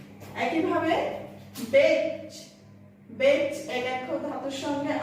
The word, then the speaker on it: বেচা: বেচ একাক্ষর ধাতুর সঙ্গে আ প্রত্যয় যুক্ত হয়ে তৈরি হয়েছে বেচা শব্দটি, তাই বেচা শব্দের একারের মতো উচ্চারিত হবে।